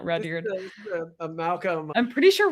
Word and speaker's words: Rudyard: People also make fun of you for pronouncing his name Rubyard. What is it? Well, Rudyard, or I think, like Rudyard Kipling.